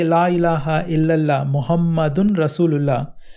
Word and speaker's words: Muhammad: ilaha illallah Muhammadun Rasulullah, the name Muhammad is pronounced a little differently. So we added the extra sound un. Sometimes you may also hear Muhammadan with un sound at the end, or Muhammadin with a in sound at the end. Lots of names and words in Arabic have sounds un, an, in are added to them when they are in certain places in sentences.